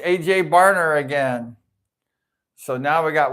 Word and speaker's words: Barner: Bruner, short of the first down. He's having a great game, really, A.J. Bruner. I guess you pronounce it Barner, A.J.